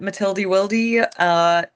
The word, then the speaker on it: Matilda Wildy: Yeah, you can find me on Instagram at Matilda Wildy. That's how you say it.